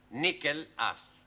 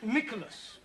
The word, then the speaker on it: Nicholas: upon a times there was a man called nickel ass it's not quite right no no once upon a time there was a woman called niichel ass it's pronounced Nicholas all right once upon a time there was